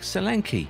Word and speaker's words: Solanke: According to rumors, they’re looking to sign Tammy Abraham or Dominic Solanke (pronounced: show-lan-keh), and they don’t look like bad options at all.